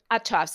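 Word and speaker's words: Uhthoff's: I'll spell it for you. Uhthoffs apostrophe s. Oh, Autof okay. Autoffs.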